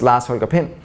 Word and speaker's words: Lars Holger Pind: Like, my name that my parents gave me was Lars Holger Pind, which in Danish is pronounced Lars Holger Pind, which is like, everything in Danish is very short and very compact.